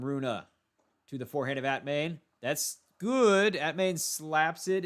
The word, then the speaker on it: Atmane: That's how they pronounce his name. Atmane. Not Atman. Atmane.